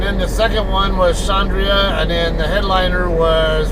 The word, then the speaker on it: Xandria: see one particular group called shandria it's um now shandria it's spelled x a n d r i a they are u a